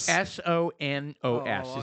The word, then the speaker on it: Sonos: Soros? Soros. S-O-N-O-S. It's pronounced Sonos.